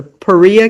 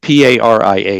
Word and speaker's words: Paria: I know it's not pariah because I always want to say pariah, but that's wrong, and it's not paria, which is not Spanish language.